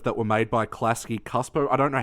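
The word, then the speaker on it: Csupo: them, the episodes that were made by Klasky Cuspo. I don't know how to pronounce the name, but... Klasky Schupo.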